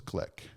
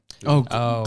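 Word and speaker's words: Glück: is a poet and essayist from 2020, Louis Glick. Gluck. Gluck, Yeah, Gluck. yeah. Yeah. I think her The name umlaut? is pronounced Glick. Oh, but it's okay. Yeah, okay. Yeah, it is spelled like Gluck, Gluck.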